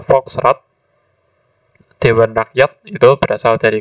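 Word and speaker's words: Volks: zaman kolonial Belanda nah ini bukan false beberapa orang termasuk saya pernah keliru membacanya jadi Fals Karena lidahnya yang betul adalah Fox dewan rakyat itu berasal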